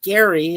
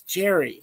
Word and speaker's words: Gerry: It's not Gary, it's Jerry.